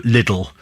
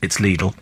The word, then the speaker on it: Lidl: Jackie in Watford says, have I been pronouncing Lidl wrong? Yes, it's Lidl. It's Lidl. I know people go Lidl, but it's Lidl.